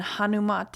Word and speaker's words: Hanumate: new things sometimes so today's mantra is and hanumate is spelled h-a-n-u-m-a-t-e it is this is a hanuman